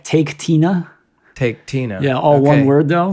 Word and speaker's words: Taketina: It's spelled like Taketina. Taketina.